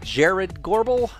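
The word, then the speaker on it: Jarrod Gorbel: We're going to go back to a guy we've played a few times this season named Jared Gorbel. He's available on iTunes. You can spell it J-A-R-R-O-D.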